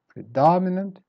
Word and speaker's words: predominant: mean one syllable pertinent predominant start weak then up and down again predominant the dada prodigy start